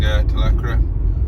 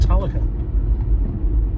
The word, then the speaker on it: Talacre: So here we are, approaching Talacre, and we're just going over the coastal railway line.